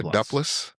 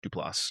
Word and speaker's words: Duplass: I'm not sure how you pronounce her name. Um Mark uh uh Duplas Duplass Duplass uh Finn Bennett and Lita Maxwell.